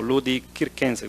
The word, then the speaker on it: Ludi Circenses: Ah, se le daba también el título general de Ludi Circenses o Ludi Kirquense, como se debería pronunciar.